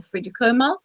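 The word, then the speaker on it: Friðrik Ómar: And they were in the super final in the end with the even better or as good Frederick Omar or Friedrich Omar, it's pronounced, Yeah.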